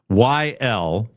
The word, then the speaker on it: Weckl: See if you can find Dave Weckl, Weckyl. I believe that's the pronunciation of it.